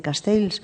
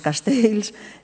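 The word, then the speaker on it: Castells: lo dice Castel castels Ayer estuve en Barcelona y me corrigieron me dijeron cómo se tenía que pronunciar Yo siempre digo castels Bueno pues castels eh lo que no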